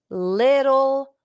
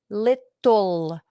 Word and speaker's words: little: Carla's health seems to be improving little by little. ¿Cómo se dice, cómo se pronuncia little? Little. Pero la T, little, es casi como una D o casi como una R.